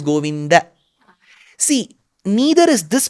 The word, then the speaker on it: Govinda: that is wrong it's not goinda it is goinda See neither is this